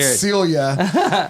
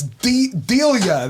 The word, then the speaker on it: Delia: And I was like, I said it wrong. I said Celia, and she was like, "So why does it say CJ loves DJ?" And I was like, "Oh, it's Delia. That's right.